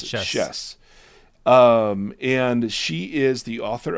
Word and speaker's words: Schiess: Today, we are speaking with a young woman named, Schiess is how you pronounce it. Schiess.